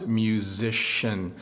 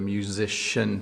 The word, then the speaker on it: musician: uh is a musician this is a challenging word for English uh learners to pronounce musician I think this part gets you the musician part so a musician plays